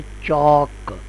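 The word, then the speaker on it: chalk: इसी तरह लज है चौक इसमें दो अल्फाज है सी एच और के जबकि ए जो है वह इसमें वावल है और एल साइलेंट है सी के साथ आ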